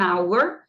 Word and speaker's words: hour: soar desse jeito, an hour, porque o H aqui é mudo. Então, o que conta é o som, né? Então, como eu, na verdade tem som de hour, o H aqui não tem som, então eu vou colocar